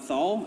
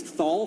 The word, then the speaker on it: Thal: perfect for him because he wanted a names that rhymes through his balls so I thought it's like okay what I want to use balls I want to use balls what rhymes with balls THS and I was like oh can we call can we call the god Thal and he was like